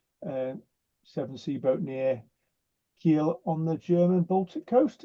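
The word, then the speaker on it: Kiel: seven SE booat near Keel on the German Baltic Coast is that have I pronounced that place right Rolland Keel he yeah know it's a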